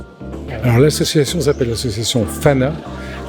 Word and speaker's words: PHANA: Alors l'association s'appelle l'association FANA. FANA qui s'écrit PH comme photo, AN comme animalière, et le dernier A qui veut dire Ophargis.